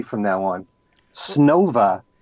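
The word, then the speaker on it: Снова: many years I pronounced Shoba B-C-C-C-P. But Allan has told me that the correct pronunciation in Russian is Snova. Snova. Okay. So I'll have to say it correctly from now on. Snova B, C-C-C-P.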